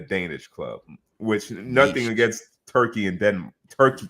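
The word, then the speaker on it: Türkiye: club which nothing against turkey and den turkey turkey a my bad new pronunciation turkey a and Denmark but Manchester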